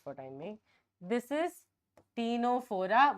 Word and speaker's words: Ctenophora: This is Ctenophora. Why I wrote Tino? Because T is C is silent. Okay, Ctenophora. P for Platyhelminthes.